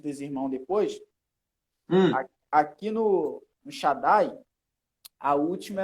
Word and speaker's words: Shaddai: Ele falou que ele estava, uma certa feita, num culto, e um determinado pregador foi pronunciar o Shaddai. Ele falou Shaddai. Nossa! Falou Shaddai.